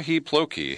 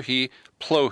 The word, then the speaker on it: Plokhy: he schooled me that the K is silent sir he blow he spelled PLO khy